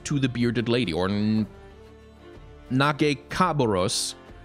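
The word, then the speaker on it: Nagakabouros: the bearded lady or knock a cabarrus I think is the correct pronunciation which is allow ease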